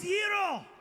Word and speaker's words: gyro: It is gyro.